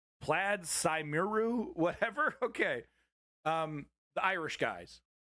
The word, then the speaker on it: Plaid Cymru: Plaid Cymru is how it's said anyway. Plaid Cymru.